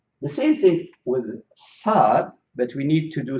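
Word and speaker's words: ص: So these letters, they should be pronounced. We have to push the tip of the tongue to the bottom of our lower front teeth.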